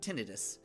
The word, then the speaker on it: tinnitus: Because technically, it is pronounced tinnitus.